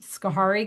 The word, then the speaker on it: Schoharie: And Chelsea, who just talked to us, she's representing a destination like this is Cooperstown and Otsego County and Schoharie County. Did I Yep, pronounce?